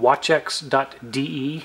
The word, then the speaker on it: Waccex: This is a website called watchex.de, at least that's how I pronounce it.